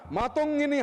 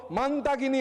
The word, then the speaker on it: মাতঙ্গিনী: দেশের জন্য প্রাণ দেওয়া বীরাঙ্গনা মাতঙ্গিনী হাজরার নাম বিকৃতি করে উচ্চারণ শুরু হলো মান্তাগিনী হাজরা, মান্তাগিনী হাজরা।